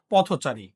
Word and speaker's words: পথচারী: হয় বা হসন্ত হয় কিন্তু শব্দটা যখন যুক্ত হয়ে একসাথে হয়ে সমাসবদ্ধ অবস্থায় চলে যায় তখন মধ্য এর উচ্চারণটা কি হয়ে যায় মধ্য এর উচ্চারণটা ওকার হয়ে যায় আচ্ছা একটু খেয়াল করে